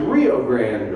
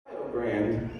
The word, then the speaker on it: Rio Grande: They told me it's pronounced Rio Grande because Rio, get this, rhymes with Ohio.